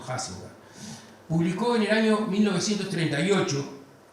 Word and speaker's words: Huizinga: El profesor, historiador y teórico de la cultura neerlandesa, Johan Huizinga, se escribe Huizinga, pero los holandeses pronuncian eso Huizinga, publicó en el año